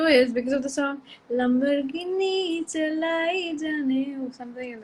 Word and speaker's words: Lamborghini: No, the issue is because of the song Lamborghini Chalai Jane or something like that. That song, what happens is now you don't say Lamborghini, which is the actual pronunciation.